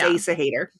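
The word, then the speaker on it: Æsahættr: It would have completely taken me out of the story while I figured out how to pronounce that. But it's Asa Hater.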